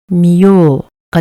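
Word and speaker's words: 見よう: 이것도 요의 영향으로 우가 장음이 됩니다. 그래서 발음은 미요가 됩니다.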